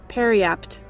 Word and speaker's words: periapt: Periapt.